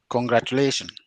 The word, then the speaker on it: congratulations: Congratulations. Congratulations. Okay, where is the syllable? Stress? The stress syllable? The second from the last.